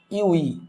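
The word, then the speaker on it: ewe: তাহলে আমাদের এখানে ইউই উচ্চারণটা কিন্তু আমাদের আসতেছে এরকম যে ইউ ই।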